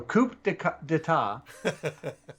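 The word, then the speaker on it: coup d'état: And the abilities are coup d'etat 5, speed. D'etat. Isn't that what I said? The P is silent. Is it? Yes. Okay, so coup d'etat.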